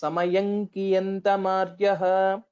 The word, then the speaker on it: समयं कियन्तमार्यः: So one thing to notice, Samayankiyantamaryaha. So when we pronounce that, both the lips will not touch together.